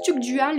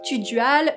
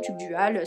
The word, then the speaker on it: Tugdual: domnoné britannique petite parenthèse je prononce TUC dual mais on est bien d'accord qu'il existe plusieurs versions de ce nom dont tuudual Tudal ou même Pasu moi je choisis de prononcer tu dual c'est la version la plus commune la plus connue en tout cas comme tous les nobles